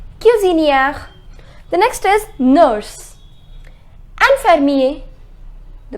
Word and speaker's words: infirmier: Infirmier. The pronunciation is infirmier.